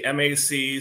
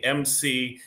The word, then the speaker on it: Mc: into some will say mac some will say mc some will like ours